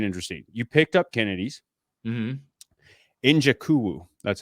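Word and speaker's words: Nzechukwu: Njakuwu.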